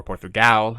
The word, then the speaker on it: Portugal: out of there um or portugal as it's actually pronounced um but i say it like an american sometimes uh so yeah